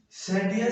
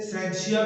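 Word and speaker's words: scientia: साइंस साइंस किस तरह, अब साइंस एक लैटिन वर्ड है, सेंटिया से अखज किया गया जिसका मतलब है नॉलेज। कुछ लोग इसे सेंशिया भी पढ़ते हैं, ये मुख्तलिफ प्रोनाउंसिएशन है, लोग इसको पढ़ते हैं।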